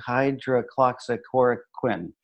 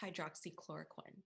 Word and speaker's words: hydroxychloroquine: hydro hydro clock Sakura Quinn it's pronounced hydroxychloroquine I should write it out welcome to punchlines